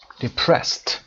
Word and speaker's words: depressed: For example, annoyed is pronounced d, irritated is pronounced irritated, id, and depressed is pronounced t, depressed.